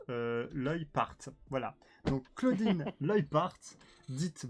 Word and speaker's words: Leupart: Hein, alors, ça s'écrit comme ça, mais je remercie Mama qui m'a mis entre parenthèses. Ça se prononce Leupart.